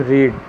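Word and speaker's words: read: You have रेड, रीड, रेड तीनों रूप एक ही स्पेलिंग में लिखा जाता है, प्रोनाउंसिएशन अलग अलग होता है।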